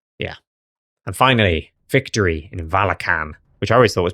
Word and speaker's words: Valachan: Wizards of the Coast who were saying Valachan, so I just assumed it was Valachan. I've run Valachan, did a whole video about it. We can spend an hour and 20 minutes with me mispronouncing the domain name.